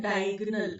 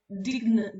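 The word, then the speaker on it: diagonal: ओ एन ए एल डायगोनल ना कि डाय डिगन डिगन नहीं होता डायगोनल होता है ऑप्शन बी डायगोनल के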